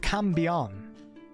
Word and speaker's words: cambion: up is a cambion a cambian pronounced cambian was generally described as